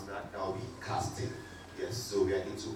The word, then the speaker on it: casting.i.ng: If you pronounce that, that will be casting.